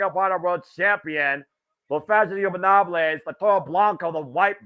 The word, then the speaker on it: Ingobernables: Because I feel like I'm always mispronouncing it on the air. La Faction. Ingobernables. Off! Ingobernables.